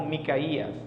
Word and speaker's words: Miqueas: le conoce este nombre se puede pronunciar como micaías miqueas es la forma más abreviada miqueas fue contemporáneo con